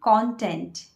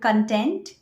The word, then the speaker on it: content: sites, we call it content. I know many of you call it content, but no, it's not content, it's content. That is the correct pronunciation.